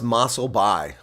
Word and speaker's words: Mossel Bay: It's pronounced Mossel Bay.